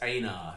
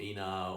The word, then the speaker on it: Einar: It's Einar. It's not Einar or Einar. It's Einar The Strange, although that means nothing when it comes to spelling.